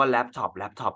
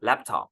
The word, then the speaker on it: laptop: รู้ ไว้ ด้วย ว่า ต่าง ชาติ จริง ๆ เขา อ่าน ว่า laptop นะ ครับ ไม่ ใช่ แลปท็อป What Would You Say